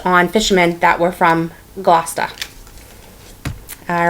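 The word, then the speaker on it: Gloucester: boring for you guys um so this is pronounced GLA okay so there you go so if you're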